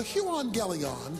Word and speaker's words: euangelion: The Greek word for gospel is the word euangelion. That's how it's pronounced.